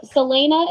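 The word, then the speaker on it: Celaena: we were kind of just talking so yes Selena is how you say her name obviously Sam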